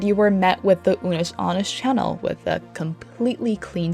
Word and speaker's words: Unus Annus: How is it pronounced? Unus Annus.